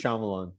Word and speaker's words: Shyamalan: really blown up uh it rhymes with naive shaman yeah i'm nice shyamalan he's gotten he has